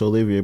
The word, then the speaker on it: Olivier: Technically, it's Olivier, but I could, like, I'll do Oliver.